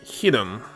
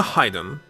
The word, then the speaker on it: hidden: You pronounce it hidden. So it's never hiden. So it is never hide them. It's always pronounced with a short I like hit. So it's always hidden no matter what.